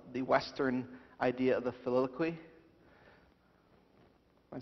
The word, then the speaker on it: filioque: a defense of the Western idea of the filioque. Am I saying that right? Yeah, filioque, yes.